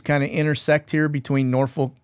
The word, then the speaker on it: Norfolk: notice the boxes kind of intersect here between Norfolk Norfolk sorry uh I was told I was mispronouncing it all this time so uh hopefully